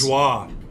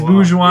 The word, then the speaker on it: Bourgeois: The Cincinnati outfielder, is it Borges? Bourgeois. Oh, it is Bourgeois. Yeah. I didn't know if you actually pronounced it.